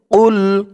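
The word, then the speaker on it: قل: রাসূলিন আল্লাহ রাসূলিন কফ দিয়ে লাম ধরবে কুল কফের আওয়াজটা গলার ভেতর থেকে ধাক্কা খেয়ে বের হবে কুল কদে কদে এই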